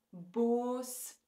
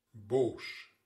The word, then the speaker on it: boos: Ten slotte heb je ook lange klanken. Bijvoorbeeld de e en de o. En in België zal je die ook zo uitspreken. Keek, boos. Maar in Nederland maken ze hier een tweeklank van. Ze zeggen... Keek, boos. Heb je het verschil gehoord? Dus wij zeggen keek en boos en zij zeggen keek, boos. Zoiets.